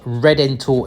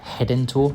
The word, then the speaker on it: Redentor: Well, Redentor in English, but in Brazilian Portuguese, an R at the start of a word is always pronounced as an English H, so they pronounce it Redentor.